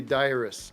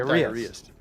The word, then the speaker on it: diarist: It's not diarrheast. What would you say? How would you pronounce that? Diarist. Diarist.